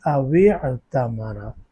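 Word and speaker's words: أو اعتمر: تو اس کو ہم کیا پڑھیں گے؟ اوعتمرا. واو کو کس کے ساتھ ملائیں گے؟ عین کے ساتھ، اور بیچ میں جو حمزۃ الوصل ہے اس کو گرا دیں گے تلفظ میں.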